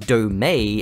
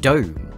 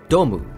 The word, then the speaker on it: Dome: before anyone comments no it isn't actually pronounced domay as you might expect being a Japanese company it is just Dome or domu if you want to be super pedantic but the main issue